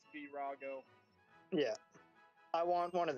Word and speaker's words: Virago: I always say Virago, but I believe it's Virago.